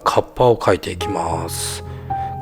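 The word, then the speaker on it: 河童: The moth, whose name is pronounced kappa, originates from a demonic monster who lives at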